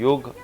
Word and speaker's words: योग: इल्म से है जिसको योग कहते हैं, योग, और ए जो है वो साइलेंट है। अच्छा। लेकिन उसको योगा आमतौर पे कहा जाता है। वैसे लफ्ज़ जो है योग असल है।